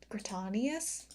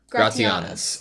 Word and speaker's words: Gratianus: Well, how do you pronounce his name? Sorry, I don't know my glasses. Gratanius? Let's listen. We're not going to follow the King of Dales. Gratianus.